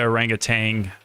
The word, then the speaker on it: orangutan: Yeah, that's the orangutan with watercolor pencils. Orangutan. Yeah, we're mispronouncing it, right? It's Yeah, orangutan. We had weeks to practice. Orangutan. Orangutan. Orangutan.